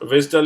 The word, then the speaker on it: WSDL: for all XML based web services right so Vistal is the language that uddi actually used and this is pronounced at Swiss dull right so WSDL right now the question comes